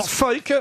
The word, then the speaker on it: Volk: En allemand, V, c'est le feu. feu. Croyez-moi, c'est Volk. Ouais, c'est un W. Volk, c'est un V, ça se prononce feu.